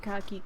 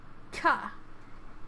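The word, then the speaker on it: か: Ka. This constant followed by a vowel, it makes up a single syllable. You pronounce it as ka.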